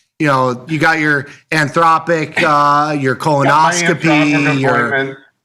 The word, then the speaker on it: Anthropic: Anthropic. And the the the the accent is on the second sy.